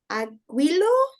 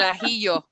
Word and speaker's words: ajillo: Sí, And then el aguilo, or how do you say that? We think it's garlic, but we also don't know if garlic is a vegetable. okay, okay. El ajillo. Hio. Ajillo. So if it's, you would say ajo.